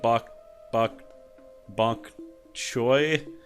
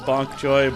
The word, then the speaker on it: bok choy: Also, someone mentioned that I've been saying bok cho instead of bok choy. And they're like, I don't want to be rude in case it's your accent. No, it's not my accent. I just read things incorrectly and mispronounce them all the time. I'll try to remember that it's bok choy, but I'm probably not,